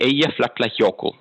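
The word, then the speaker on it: Eyjafjallajökull: uh the name of the volcano is actually a yeah yoko okay that i can pronounce it took me five years to learn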